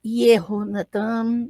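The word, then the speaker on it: יהונתן: Então, eu vou falar Jonathan, mas não há som de J no hebraico, então o nome vai sempre ser pronunciado como se tivesse um Y no começo, tá? Então, Jonathan ou Yehonatan, né?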